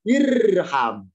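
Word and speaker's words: ارحم: Karena huruf ketiga fathah, alifnya tidak ikutan fathah, tapi tetap kasro. Maka bacanya irham.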